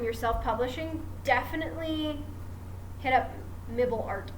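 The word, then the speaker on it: Mibl: self-publishing, definitely hit up Mibble Art. It's spelled M-I-B-L Art. Mibble. I just affectionately call it Mibble because it sounds cute.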